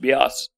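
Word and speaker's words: Beas: time he didn't miss he realized it's pronounced Bas so then he was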